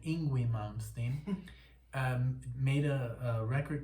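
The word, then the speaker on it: Yngwie: in in i guess i'm going to say it like you say in the united states envy malmsteen or as i call them inguinal um made a record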